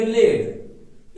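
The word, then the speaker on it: lead: उसका अगवाई करना और वही देखिए सेम स्पेलिंग है एल इ ए डी लेकिन इसको उच्चारण करेंगे लेड एक है लीड जबकि सेम साउंड है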